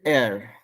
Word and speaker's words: heir: HEIR is air. Air. Air. H को silent कर देता थोड़ा.